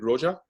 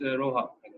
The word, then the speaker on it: Roha: questions, and remarks by, is it Roja? Is that how you pronounce her name? It's Roha. Roha.